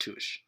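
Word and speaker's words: touché: of media with fencing in it she says touche it's pronounced tush occasionally there are refs who speak in french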